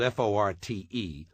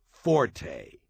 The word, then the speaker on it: forte: English word Fort spelled f o r t and meaning specialty or strong point is not pronounced Forte got that it's pronounced Fort the Italian word Forte